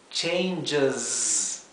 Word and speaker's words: changes: es la En cambio es la Z la hice como si fuera un zumbido de abeja Z changes changes sí esto podría ser una i o una e también lo importante es que se pronuncie muy cortito changes Sí ahora en